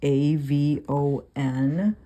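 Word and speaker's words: עָוֺן: So the word sin is the Strong's number 5771, and it is A-V-O-N, avon is how it's pronounced.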